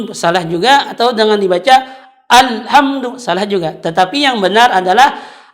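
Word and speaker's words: الحمد لله: madu itu dengan kalau salah-salah atau dibaca dengan alham salah juga atau dengan dibaca alhamdulillah juga tetapi yang benar adalah Alhamdulillah itu tadi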